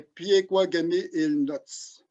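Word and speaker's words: Pekuakamiulnuatsh: Et notre Première Nation, c'est la Première Nation des Piekwagamie-Illinots.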